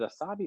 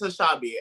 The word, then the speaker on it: Asabi: Because is it Asabi or Ashabi? No, it's Ashabi. And I wrote it as Ashabi with an H so that way I can make sure I pronounced it correctly, but it's definitely Ashabi.